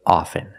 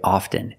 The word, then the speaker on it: often: words soften and often with both words I don't pronounce a t i say soften and I say often but sometimes you'll hear people say often and it's not wrong it's okay people say